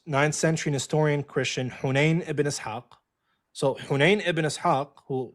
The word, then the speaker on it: Ibn Ishaq: Hayun bin Ishaq. Am I pronouncing that right? Ibn Ishaq. Ibn Ishaq.